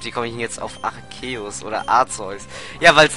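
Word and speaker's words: Arceus: also der Anime Serie wo es archeus ausgesprochen ich habe bis dahin immer arzus ausgesprochen oder Arus ja aber es erinnert mich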